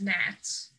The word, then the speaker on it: gnats: happened last year, is gnats. Or I guess fruit flies, if like that's what you call them. Gnats. First of all, the G in gnats is silent, which just makes me angry.